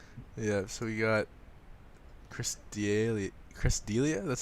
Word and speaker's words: D'Elia: Yeah, so we got Chris D'Elia. Chris D'Elia? That's how you pronounce it, right?